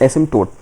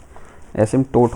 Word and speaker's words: asymptote: P silent होता है। एसटोट होता है।